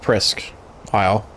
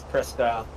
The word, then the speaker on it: Presque Isle: We think it should be pronounced Presque Isle.